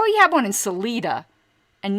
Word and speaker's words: Salida: a town um but you'd pronounce it salida like selena but it's salida not salida that's such